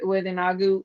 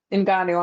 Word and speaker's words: Ngannou: It's also enticing other fans with Inagu, and I'm sorry, I'm saying his name wrong. in Ghana. Ngannou, I'm sorry.